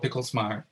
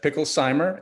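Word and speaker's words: Picklesimer: han and then paul picklesmeyer am i pronouncing your name correctly picklesmart uh not quite it's actually uh picklezheimer and i guess i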